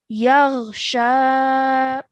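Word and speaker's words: يغشى: Now, this pronunciation, just try that again. We're going to say يَغْشَى.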